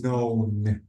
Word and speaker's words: known: one it's uh the the key is silent so knowing it's known known known okay not a lot